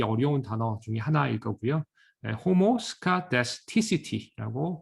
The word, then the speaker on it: homoscedasticity: homoscedasticity라고 발음을 해주게 됩니다.